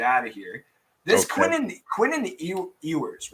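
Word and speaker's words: Quinn Ewers: Quinnen Ewers, right? Is that how you say his name? Yeah. Quinnen Ewers.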